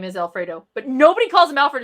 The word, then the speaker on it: Alfredo: Actually, his name is Alfredo, but nobody calls him Alfred.